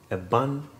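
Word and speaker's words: Eban: A bun, alphabet E, stands for fence, and you have E B A N.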